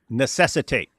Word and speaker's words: necessitate: Necessitate. Necess you're leaving out a syllable. It's necessitate.